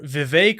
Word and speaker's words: Vivek: Vice President Mike Pence, entrepreneur Vivek rhymes with cake Ramaswamy, and Senator Tim Scott.